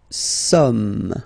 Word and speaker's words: sommes: Nous sommes, okay? So you don't pronounce the final S here.